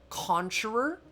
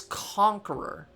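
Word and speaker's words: Concheror: go and pronounce this it's not coner it's conqueror because conch as we have it pronounced in SpongeBob is actually supposed to be conch like actually kind of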